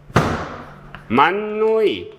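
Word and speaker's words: 맏누이: 자, 만누이. 이거 어떤 발음 하죠? 만누이. 무슨 현상? 비음화가 벌어집니다.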